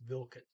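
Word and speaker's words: hvilket: They say it's Vilket. They do pronounce that ET on Vilket.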